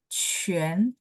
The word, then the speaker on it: 十全十美: Terus, 知春思梅 ya, quan bacanya. Quan.